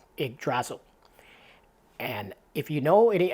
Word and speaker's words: Yggdrasil: I believe it's pronounced Yggdrasil.